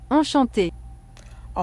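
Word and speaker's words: enchanté: one but it's fun and here is how you say it Shante a Shante means Enchanted delighted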